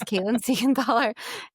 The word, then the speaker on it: Caitlan Seigenthaler: My website is my name and my name is complicated so I will spell it for you. It's Caitlyn Seganthaler.